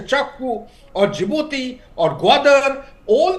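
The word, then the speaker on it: Kyaukphyu: Bangladesh, be it at your Chakfu, or it's written as Kyakfu, but it is pronounced as Chakfu, or Djibouti, or Gwadar, all these places, and the east coast of Africa.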